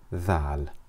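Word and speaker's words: ذال: Dal so with that we move on to zal so repeat after me than looks just like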